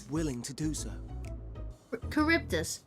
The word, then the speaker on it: Charybdis: Charybdis. What's the point of the H there in the name if it's not pronounced?